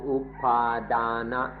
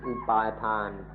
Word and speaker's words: อุปาทาน: Concept ว่าตัวตนหรือเส้นนี้เราเรียกว่าอุปาดานะหรืออุปาทานหรือ attachment เพิ่งมีเดี๋ยวนี้เอง This concept of me is called upadana, or in Thai pronunciation upatan, which has just happened.